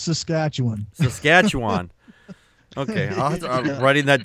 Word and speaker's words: Saskatchewan: Yeah, it's pronounced Saskatchewan.